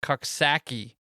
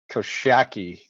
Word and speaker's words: Coxsackie: I'm gonna go with Coxsackie. Did I fuck that up? I think it's actually called Koshaki. Where do you get the sh?